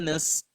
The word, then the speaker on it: نستعين: Iyyaka na'budu wa iyyaka nasta'in. So one harf here, this letter here, ain, is often mispronounced most often times because a lot of people find it hard to pronounce ain.